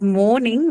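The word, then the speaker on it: mourning: which is m-o-r-n-i-n-g although they uh sound very similar they're actually not very similar even in the case of pronunciation they are both different sounds both different um and they they are different because of the distinction of just one vowel sound there okay so morn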